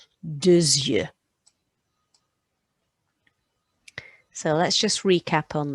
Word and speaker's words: deux yeux: I'm going to pronounce that X because the vowel's coming next, deux yeux.